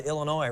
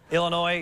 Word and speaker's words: Illinois: Say hello to ILLINOIS RIGHT HERE. BY THE WAY, I HAVE ACTUALLY heard some educated people say Illinois. It makes me cringe. You cannot say Illinois. The S is silent. Illinois.